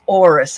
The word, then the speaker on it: Horus: So I pulled some wonderful archangel cards, and I come up with Horus. Actually, it's Horus. I think the H is silent.